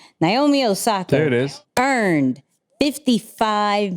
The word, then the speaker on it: Naomi Osaka: Naomi Osaka.